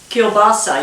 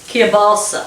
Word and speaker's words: kielbasa: i think let's see here kielbasa huh kielbasa you don't even pronounce it kia balsa wait kielbasa okay so anywho they like